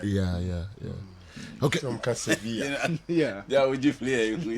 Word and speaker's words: Sevilla: So Spanish, no mono L double no be pronounce Y. Yeah. Okay. Some can Sevilla.